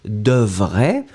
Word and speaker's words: devrait: We get devrait. Remember, we don't pronounce the final T.